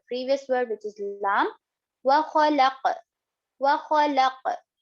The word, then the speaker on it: وَخَلَقَ: letters of huruf qalqala, which means that there will be a bounce in the word qaf while reading this. وَخَلَقَ وَخَلَقَ وَخَلَقَ, like this. Make sure also to pronounce the qaf properly. It is one of the heavy letters, so make sure to pronounce it properly.